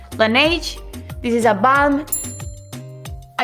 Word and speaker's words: Laneige: ¿Cómo se pronuncia este nombre? No, solo lo sabe Dios. It's Laneige.